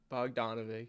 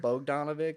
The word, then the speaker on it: Bogdanovic: here with my buddy Hunter how do you pronounce your last name or brother Hunter bovic B donovic yes bovic I was like doing so many